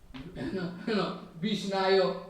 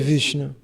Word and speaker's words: Vishnu: Somebody speaking, Vishnayo is speaking, somebody speaking, this way, but still Bhagavan never mind. O Senhor Supremo não se incomoda com quem diz Vishnayo, quem não sabe pronunciar o nome de Vishnu, mas mesmo assim Ele vai lhe abençoar.